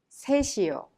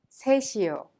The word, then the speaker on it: 셋이요: The final consonant 시옷 in 셋 of 셋이요 is prolonged and connected to 이요 and is pronounced 셋이요. Now try to repeat it. 셋이요. 셋이요.